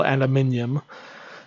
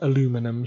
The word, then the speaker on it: aluminum: In my head, it's still aluminium. But unfortunately, when you're playing American games, you've got to get used to American pronunciations. So let's go make us some aluminum, shall we?